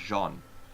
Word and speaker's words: Jeanne: and her name in this one is, I mean, it's spelled like, if I were to read it with my English accent, it would be Jeannie With or Jean. something. But it's Jeanne.